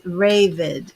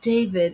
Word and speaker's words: Ravid: And it's Ravid. Okay. Oh, like David. Ravid. What did I call you? Ravid. It's not David, it's David, and it's not Ravid. It's Ravid. Okay. Ravid rhymes with David.